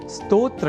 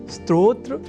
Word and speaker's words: स्तोत्र: यहां हमने स्तोत्र के उच्चारण और लेखन पर दिया है विशेष अवधान। अर्थात स्तोत्र में अर्ध सकार के बाद त और ओ इन दो अक्षरों का संयोग है। और इसके बाद त्र इस संयुक्त अक्षर का। यदि हम यह ध्यान में रख लें तो कभी भी स्तोत्र के स्थान पर स्त्रोत्र या स्त्रोत जैसे उच्चारण या लेखन हमारे प्रयोग में ही नहीं रह सकेंगे।